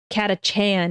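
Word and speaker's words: Catachan: you have to fight katach Chan is how you say it I wasn't sure got a Chan that's so cute that's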